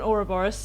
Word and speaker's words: Ouroboros: There's also been a lot of focus lately in Dragon Age stuff of an Ouroboros, or an Ouroboros, depending on how you like to pronounce it.